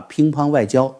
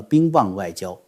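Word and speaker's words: 乒乓外交: 枪短炮前把乒乓外交念成了冰棒外交。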